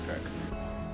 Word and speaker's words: creek: I kind of said Creek until I moved here, and now it's Crick. Crick or Creek? Creek.